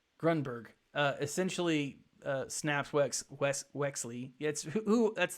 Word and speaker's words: Grunberg: Greg Gutenberg, not Gutenberg. I always get his name wrong. Grunberg.